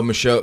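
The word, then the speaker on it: Michaux: It's like I forget how you pronounce it. It's like the Mikau Forest or something like that. Oh, Michaud.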